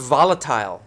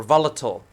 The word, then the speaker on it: volatile: I use the word volatile or volatile. It's pronounced both ways, volatile or volatile.